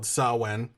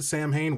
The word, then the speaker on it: Samhain: version of an even older holiday called sawwen spelled samhain but on the internet i found out if you pronounce it samhain witches will get mad and i don't want